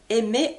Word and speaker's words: aime: l'écriture du du mot aimer en en ami j'amis donc j'aime maintenant tout simplement vous pouvez prononcer tout le verbe aimer par la lettre M c'est exactement la même prononciation j'aime tu aimes regardez